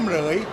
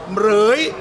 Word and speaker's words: เหมรฺย: จะ ยาว เกิน ไป ก็ ชื่อ เหรย เหรย ตัว พินทุ ตัว รอ เรือ สลุ พิธุ ไม่ ออก เสียง เป็น ออก เสียง ตัว ควบ กล้ำ นะ ครับ เหรย เป็น ภาษา บาลี ภาค